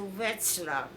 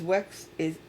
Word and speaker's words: Wetzlar: Now a lot of people still were in a few camps, but we went to Wetzlar. Is Wetxlar?